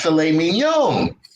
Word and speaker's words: filet mignon: for the gentleman ordered the philip mignon which he pronounced filet mignon just because i didn't